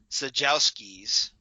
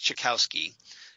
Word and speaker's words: Czajkowski: Like I said, Stephanie excuse me, Czajkowski, I think is how it's pronounced, Czajkowski. She plays Hammerhead.